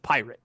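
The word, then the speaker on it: Pyrat: day i i think it's just pirate p-y-r-a-t okay rot pirate yeah i don't know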